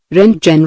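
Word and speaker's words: Röntgen: telegraphy pronounced telegraphy or the runwin rays pronounced ren genen rays.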